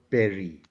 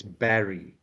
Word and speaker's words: Barry: It's not Barry. It's Barry. Barry.